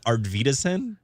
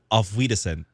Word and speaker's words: Auf Wiedersehen: Wait, hold on. How did you pronounce that? Our Wiedersehen? Yeah. How do you say it? Auf Wiedersehen.